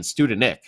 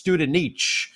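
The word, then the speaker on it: Studenič: I think we were pronouncing that wrong last year. We were saying Studenik. So I believe it's Studenich, if I am to believe the great Steve Cangelosi, who was calling it on air.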